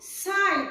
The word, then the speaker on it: psi: तो इसको तरंग यांत्रिकी के अनुसार इसे हम लोग साई, PSI का P साइलेंट है, साई यानी त्रिशूल के जैसा चिन्ह से भी डिनोट किया जाता है।